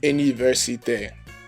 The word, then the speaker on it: université: université, the last word, the first E is pronounced as, again, E as in the word get, but the second E is pronounced as AY would be in English, as in the word day.